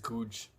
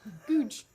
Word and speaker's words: Goodge: places, I only knew how to get to Goodge Street, which was our stop for the hotel, and King's Cross. Goodge Street. You know, I have my priorities. Goodge Street. Goodge Street. Goodge Street. Goodge Street. What? Goodge.